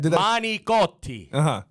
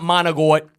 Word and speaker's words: manicotti: Manicotti. Not managot. Okay. Some people say managot. Yeah. It's not even, if you spell it, you can't even pronounce it like that. It's manicotti.